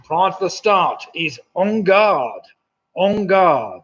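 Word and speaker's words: en garde: The ready position prior to the start is on guard. On guard. And it's spelled E-N, guard, G-A-R-D, which is why it made it a bit tricky.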